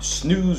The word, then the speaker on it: snooze: 咁啊，記住咧，個 double o 咧就唔好讀成即係 snooze。係啦，snooze 係個烏音，snooze 係啦。